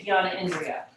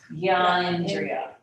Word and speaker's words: jnana indriya: So you can't say Jnana Indriya. It's Gyan Indriya.